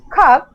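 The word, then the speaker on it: cork: And if we pronounce khak, C-O-R-K, R will be silent.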